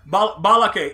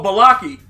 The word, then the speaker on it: Balaki: Okay, yeah, Balake. Is that how you say it, Balake? Listen, however it is, that works for you, Balake, because you know that Escape, oh, Balaki. Okay, Balaki's how it goes.